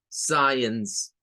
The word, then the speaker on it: science: La terminación E-N-C-E es una terminación en la cual también se suele utilizar el schwa. Ens, science, science.